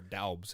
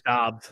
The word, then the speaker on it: Dobbs: Or Daubs. How do you say his name? It's Dobbs. Dobbs. It's pronounced Dobbs.